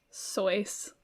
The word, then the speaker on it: Seuss: supposed to be pronounced soice like like rhymes with voice um but he switched